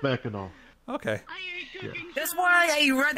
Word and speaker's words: Mackinac: There isn't, but people pronounce it Mackinac. Instead of Mackinac.